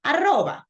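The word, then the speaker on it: arroba: that usually listening to me but the right pronunciation of this in Spanish is aroba right we say an Rodriguez gmailcom right but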